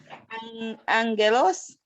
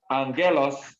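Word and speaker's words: άγγελος: an english inn example angelos angelos is a so the first g is pronounced like an n so it is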